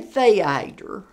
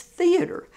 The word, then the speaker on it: theater: you go to hollywood please learn how to pronounce what your degree is in because i was saying theater i got a degree in theater they said it's theater i said no not where i come from it's theater so anyway